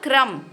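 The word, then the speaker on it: crumb: हैं नम ठीक है इसके बाद बनेगा क्रम सी आर यू एम बी इसमें भी हम बी को नहीं बोलेंगे नहीं प्रोनाउंस करेंगे क्रम का मतलब होता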